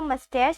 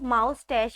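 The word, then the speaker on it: moustache: इसके सही प्रोनाउंसिएशन है मस्टैश, मस्टैश, MOUS, मस, TACHE, टैश, मस्टैश। वैसे तो बहुत से लोग इस लफ्ज़ को माउस्टैश पढ़ते हैं, लेकिन अगर हम इस लफ्ज़ को माउस्टैश पढ़ेंगे तो इसका मतलब हो जाएगा चूहे की मूछें, लेकिन इसके सही प्रोनाउंसिएशन है माउस्टैश।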